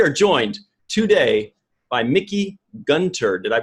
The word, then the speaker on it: Gunther: T house we are joined today by Mickey Gunther did I pronounce that correctly goonter gunther it's buried in I'm gonna exchange it